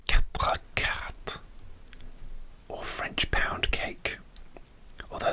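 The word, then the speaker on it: quatre-quarts: Quatre quarts. Quatre quarts. Okay. Like this, the T in quart is silent. C'est muet.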